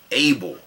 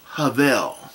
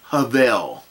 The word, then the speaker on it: Abel: saying his name as if it's if it's pronounced like the word a ble Abel again that's incorrect that that is what we